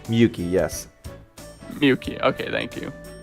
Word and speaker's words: Miyuki: Is that how you pronounce Miyuki? Miyuki, yes.